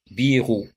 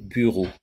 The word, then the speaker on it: bureau: ils vont prononcer y en entend souvent les gens dire birou au lieu de bureau alors comment corriger cette